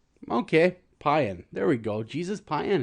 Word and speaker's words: Payan: Payan. It's like Mayan, but with a P. Okay, Payan.